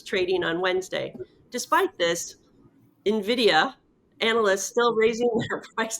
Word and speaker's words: Nvidia: next story which is Nvidia. Nvidia Nvidia Nvidia. I always just say it like it's got an N in front of it because it's too difficult to say Nvidia. I just say Nvidia.